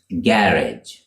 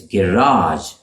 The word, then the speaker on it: garage: British English it's pronounced garage garage with the stress on the first syllable garage the same garage is garage for the Americans with